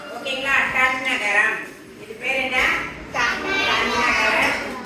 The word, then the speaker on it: டண்ணகரம்: நாம எப்படி உச்சரிக்கலாம்னு சொல்றேன் இந்த நா பாத்தீங்களா மூணு சுழி நானு சொல்லக்கூடாது சரிங்களா இந்த நாவுக்கு பக்கத்துல ட இருக்கு இல்லையா அதனால இது டன்னகர நா ஓகேங்களா டன்னகரம் இது பேர் என்ன தன்னகர